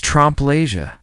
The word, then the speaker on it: trompe l'oeil: He explained that Nick's pronunciation sounded more like L-O-E instead of the correct Leia, which has a French oi sound.